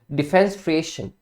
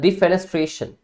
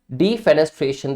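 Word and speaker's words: defenestration: डिफें डिफेनेस्ट्रेशन डी फेनेस्ट्रेशन देखो वैसे तो इसके बिगिनिंग में आप वर्ड देखते हैं तो आपको डिफेंस की साउंड आती है ठीक है बट यहां जाके कुछ स्पेलिंग अलग हो जाते हैं ठीक है तो इसको आप डिफेंस ट्रेशन मत बोलिएगा डी फेनेस्ट्रेशन बोलना है आपने ठीक है अब डिफेनेस्ट्रेशन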